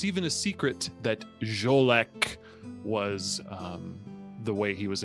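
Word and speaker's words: Xolec: That vampire's name is Jolek, who has been missing for some time. Interesting name it is. X-O-L-E-C is the way it is spelled.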